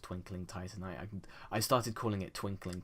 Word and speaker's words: Titanite: I remember a long time ago when I mispronounced Twinkling Titanite. I started calling it Twinkling Twitanite because my brain died whilst I was trying to pronounce it.